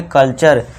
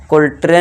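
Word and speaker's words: culture: कल्चर। कुल्ट्रे नहीं कुल्ट्रे नहीं पढ़ना है इसे कल्चर ठीक है दोस्तों इस तरह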